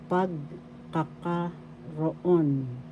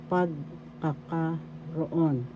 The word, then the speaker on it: pagkakaroon: or you could say pagkakaroon pagkakaroon first syllable second syllable ka third syllable ka fourth syllable raw fifth syllable on the third syllable has the accent so you pronounce this